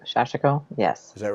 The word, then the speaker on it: sashiko: It's Yeah, shashiko. you got to get the emphasis on the right syllable, as they say.